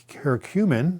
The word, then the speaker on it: curcumin: John's wort, curcumin, that's how you pronounce it, which is the active ingredient in turmeric, and rhodiola.